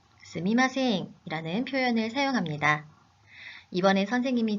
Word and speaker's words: すみません: 스미마셍을 스이마셍으로 발음하기도 합니다. 아, 정말 너무 혼란스러워요 하는 학생들이 있는데요. 두 표현, 의미의 차이는 없습니다. 하지만 두 표현 중에 스미마셍이 올바른 표현입니다.